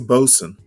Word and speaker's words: boatswain: It's a bosun. That's how it's pronounced.